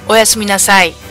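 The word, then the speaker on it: おやすみなさい: It's oyasumi, or to be polite, oyasumi nasai, which sounds like oyasumi, or oyasumi nurse.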